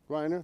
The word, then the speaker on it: Griner: Brittney, Griner? Did I say it right? Griner, thank you.